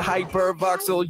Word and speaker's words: Hypervoxel: It's the Hypervoxel, yeah, Hypervoxel. You spell it like it sounds, Hypervoxel.